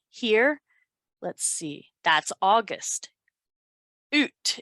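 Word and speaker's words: août: let's see that's august oot is how they pronounce it in french it's weird it's a-o-u-t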